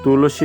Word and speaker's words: তুলসী: আমরা জানি যে সূত্রে দন্তস সমান হচ্ছে ছ এর মত উচ্চারণ করতে হবে তাহলে দন্তস এর পরিবর্তে আমি দেখো এখানে ছ লিখে দিয়েছি আর বাকি সব ঠিক রেখেছি তাহলে তুলসী এর উচ্চারণটা আমরা পেয়ে